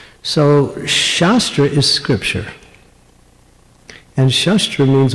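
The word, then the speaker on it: शस्त्र: Shastra and shastra. They're spelled the same, but the emphasis is different. So shastra is scripture.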